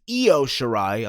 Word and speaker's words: Io Shirai: You had Candice LeRae versus Io Shirai, I'm saying it right this time, versus Bianca Belair versus Mia Yim.